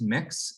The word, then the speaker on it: Mx: munson um i use the title mx pronounced mix so i use the gender and power neutral title mix rather than the other